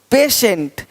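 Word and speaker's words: patient: देखो पेशेंट। पेटेंट नहीं पेशेंट। पेटेंट पेशेंट पेटेंट पेशेंट तो श पेशेंट देख पा रहे हैं यहां देखिए पोर्शन पोर्शन पोर्शन देख पा रहे हैं पार्शियल यहां श हो रहा है पार्शियल रेशियो देख रहे हैं प्रमोशन प्रमोशन तो सबका साउंड क्या आ रहा है श देख पा रहे हैं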